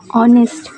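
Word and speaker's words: honest: और यहां ए एन का यूज़ इसलिए किया गया है क्योंकि ये जो एच है आपका वो साइलेंट वर्ड है और ओ है यहां पे। ठीक है? जो कि वोवेल है तो ऑनेस्ट जिसमें आपका वोवेल्स की साउंडिंग आ रही है।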